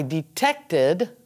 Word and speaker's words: detected: And finally, I detected a problem. Because it finishes with a T or a D, it's id.